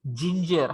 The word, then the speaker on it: ginger: you talk your lodge here letter is g but it does not sound go it is a jo why there is e at the end here it is ginger how do you pronounce